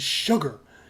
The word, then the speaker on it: Chigurh: names so Anton Chigurh they even joked in the movie they're like sugar what kind of scary villain is named sugar and they're like nah it's sugar now just by changing the